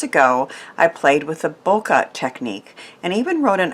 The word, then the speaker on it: bokeh: a haze or blur many sources show the term pronounced either bouquet or bokeh so because we can choose I'm saying Boca because it's easier in the past I've